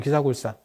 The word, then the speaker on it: 기사굴산: 사산이 기사굴산이에요 영축산 있니다 영축산의 인도 발음이 기사굴산 이거든요 그래서 그걸 줄여 가지고